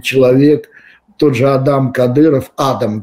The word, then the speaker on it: Адам: тот же Адам Кадыров Адам вернее правильное ударение Судя по этому фильму